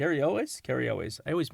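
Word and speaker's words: Cary Elwes: who's played by Carri kri lus K elways Carri elways I always mispronounce his name elways from Princess Bride Fame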